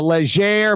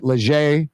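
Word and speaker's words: Léger: way it is a a leer poll I think is how you pronounced it leer leer before the debate Biden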